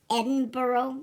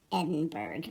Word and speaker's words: Edinburgh: Well, it's pronounced Edinburgh, which I'll never understand because it's clearly spelled Edinburgh, but they say Edinburgh.